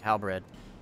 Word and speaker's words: Halberd: So, Austin, I had a revelation the other day that it's not actually Halberd. A Halberd? Yeah, that's not actually how you say it, and it's also not how it's spelt.